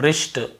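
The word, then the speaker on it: wrist: सीधी सी बात है हमें जब भी ऐसे कहीं मिलता है डब्ल्यू आर के साथ एक साथ हमें केवल ऐसे पढ़ना है। Wrong राइट rap rapper wrinkle और रिस्ट और रैक वगैरह ऐसे भी होता है।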